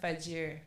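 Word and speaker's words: Fajr: um for muslims you get up early with fajir is that how you say it that's right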